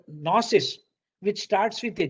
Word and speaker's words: gnosis: phonetically though it is the g is not pronounced it is retained in spelling because this g is